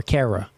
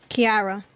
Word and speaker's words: Kiara: uh and I'm sorry am I pronouncing your name right is it Kiara or Cara Kiara Kiara okay what about you uh